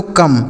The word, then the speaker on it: come: तो इसे क्या पढ़ा जाता है, इसे पढ़ा जाता है दोस्तों कम। COME इसे पढ़ते हैं कम। ठीक है, यानी जो इसका प्रोनाउंसिएशन होता है, जिसको हम उच्चारण बोलते हैं, वह होता है कम।